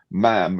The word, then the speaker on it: ma'am: But with Her late Majesty, I suppose with Her current Majesty, you would say ma'am, which is MA''AM, not ma'am, as in smarm, ma'am as in jam.